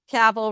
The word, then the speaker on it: Cabell: Cabell rhymes with Scrabble. Cabell.